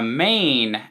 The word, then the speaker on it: Mane: would be called the main event and it's kind of it's spelled ma any like your man main you know but it's a play on main event like welcome to the